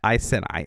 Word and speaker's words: Iceni: And I looked up how to pronounce that, and that is how you pronounce that, Iceni, at least according to the internet.